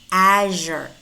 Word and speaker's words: azure: Azure. Azure. Beijing. Beijing. Pay close attention to these words because normally we mispronounce them and we pronounce them sh, not zh.